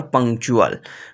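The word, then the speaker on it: punctual: चे की आवाज देंगे अगर टीयू एक साथ आ जाएंगे तो यह भी चे की आवाज देंगे जैसे देखते हैं जी एक्चुअली एटीट्यूड और पंक्चुअल पॉइंट नंबर फिफ्थ हमारे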